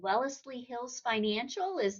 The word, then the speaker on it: Wellesley Hills Financial: You're now with an organization called Wellesley Hills Financial.